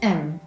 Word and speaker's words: them: Okay, so when we reduce the word them, the TH sound is silent and all we hear is M.